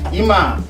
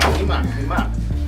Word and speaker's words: Eema: Eema, right? Eema. See, I was saying it wrong. Eema.